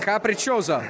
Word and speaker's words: Capricciosa: How do you pronounce it? We actually we're not getting any eggplant. Let's get that one. The capriccio. Capricciosa.